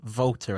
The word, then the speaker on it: Walter: Tim Walter, I think it is, even though it's spelt Walter.